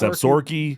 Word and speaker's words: Absaroka: It's Absaroka is how it's spelled, but it's Absaroka.